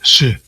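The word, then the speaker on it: Sídhe: gentes de las colinas, pronunciado como la palabra inglesa sh.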